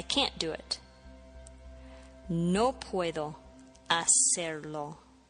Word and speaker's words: hacer: To do or to make in Spanish is hacer. Hacer. H-A-C-E-R. The H is silent.